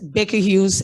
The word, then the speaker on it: Baker Hughes: you aplen and yes the correct pronunciation of my company that is an american company is baker hughes and we're in over